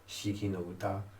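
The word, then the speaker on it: 四季の歌: I won't get the name pronounced exactly right, but it's Shiki no Uta.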